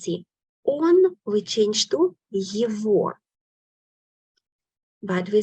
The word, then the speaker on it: его: We write G here. Exception is here. We pronounce as V. Say with me. Его. Его. Его. Okay? Его. Not его. We write его, but pronounce его.